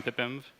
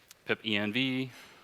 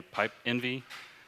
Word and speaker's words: Pipenv: any other questions on Pippins which is i pronounced it Pippin I've also heard it pip env I've heard it you should not say pipe Envy but Kenneth says Pippin then it works well